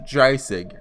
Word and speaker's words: Dreisig: Apparently it's pronounced Dreisig. I looked it up on Google Translate.